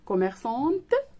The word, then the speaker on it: commerçant: alors une commerçante, le masculin c'est un commerçant, il y a la lettre T qui ne se prononce pas, d'accord.